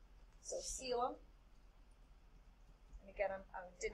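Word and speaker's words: coelom: And I see the next one is called a sealum. That's how that's pronounced. So sealum.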